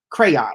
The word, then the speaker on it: Kreion: But Crayon, if you all want some real chill music, Crayon, and let me spell that because it sounds like I'm saying crayon, but Mhm. it's Kreion. Crayon.